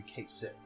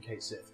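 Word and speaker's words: Cait Sith: would probably be like i am just going to say it's pronounced and i've always called him kate sith most people watching this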